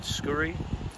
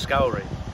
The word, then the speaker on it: Scourie: I carefully uh looked up I thought the pronunciation of skuy um there are people on the internet Scotsman who pronounce it that way but told by the president of our clan society that uh it's pronounced scow so it's maai of scow so for this